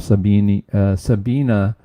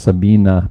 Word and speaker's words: Sabine: Sabina, I think, is the way they pronounce it. I was told I was pronouncing that wrong by one of my viewers, but I think it's Sabina, but it's spelled with an E at the end.